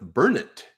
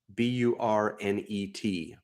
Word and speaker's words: Burnet: And then not far from where I live, Burnet, B-U-R-N-E-T, Burnet, accent on the burr.